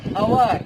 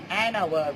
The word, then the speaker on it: hour: And our its spelling starts with consonant, but its sounds or its pronunciation it comes with vowels. Our, that is an hour we are calling, like that.